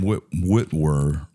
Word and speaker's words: Witwer: So, but Sam Witwer, I think I pronounced his last name.